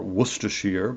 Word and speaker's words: Worcestershire: A lot of times I'll just take pork chops and take some mustard and Worcester sauce, I guess is the proper way to say it, or Worcestershire.